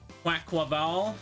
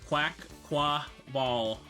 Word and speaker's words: Quaquaval: Quaquaval, that's how you say it. Quaquaval.